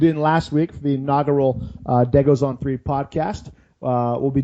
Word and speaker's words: Degos: for us on iTunes day goes on three dead goes is spelled like de gos just like Legos with a D on the number three